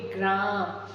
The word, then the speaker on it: ग्राम: र पूरा होता है तो यहां र पूरा है और ग आधा है और इसको हम पढ़ेंगे ग्राम ग्राम देखिए र का पूरा उच्चारण हो रहा है और ग का आधा ग का आधा है मतलब वो स्वर रहित है तो हम क्या पढ़